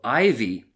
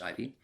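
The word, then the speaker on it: Iveagh: It's not ivy like the plant. Ivy E A G H is how it's written down, but pronounced Ivy.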